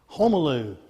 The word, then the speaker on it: Homaloo: Homaloo, that's how you say his name. I remember how to say it with that movie Home Alone.